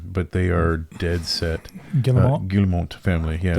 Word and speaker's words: Guillemot: Guillemot family. Yeah, it's French. Right? Yeah, it's French. I'm almost mad at myself. I said it right. Now that I know it's French. The Guillemot family who owns Ubisoft